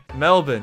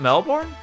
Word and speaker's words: Melbourne: well go all in melbourne yes it's pronounced like this is at the bottom of east coast cities in the middle wait it's not melbourne it's melbourne mel jason bourne he is dover king